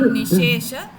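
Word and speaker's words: निःशेष: Instead of saying nishesha, say nishesha. निलीन निशेष पदार्धमाला संक्षेपरूपं मुकुलायमानम्.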